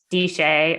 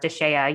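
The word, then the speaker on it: DSHEA: health and education act di shea or deshaya you might hear it pronounced delia can you tell us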